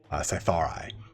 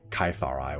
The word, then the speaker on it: Cytharai: And the outermost ring is reserved for the Cytharai, or Cytharai, whichever one you want to pronounce that.